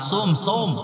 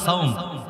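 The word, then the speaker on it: صوم: সুমু নাহার, সোম আমরা বাংলা বলি সাওম, বলে না? সাওম মানে কি? রোজা। আসলে সঠিক উচ্চারণ হয়েছে সোম।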